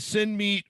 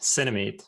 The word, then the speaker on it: Cinemeet: fun with the name is it send meat or cinemate it's cinemate but i'm a swede so